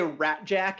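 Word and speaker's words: Rasczak: um all right james they all say rat jack in the film but it's actually spelled like a like a check spelling r-a-s-c-z-a-k all right right um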